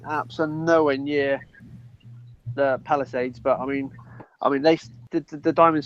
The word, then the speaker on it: Palisades: I mean sadly, I can never pronounce. Is it Paladise? Is it Palisades? Palisades.